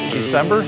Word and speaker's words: December: My name is December. It's pronounced like the month.